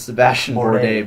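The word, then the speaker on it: Sébastien Bourdais: holy how you pronounce that it's Sebastien Bourdais buddy that's like Grand Prix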